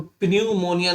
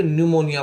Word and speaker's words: pneumonia: Psychology का मतलब मनोविज्ञान, PNEUMONIA, तो इसमें प्न्यूमोनिया ना पढ़ के न्यूमोनिया पढ़ेंगे। और PSALM साम, पी साइलेंट है, साम मने भी होता है भजन।